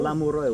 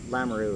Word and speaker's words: Lamoureux: Lamuroy would be the correct French pronunciation, but in English, Lamaru is perfect fine.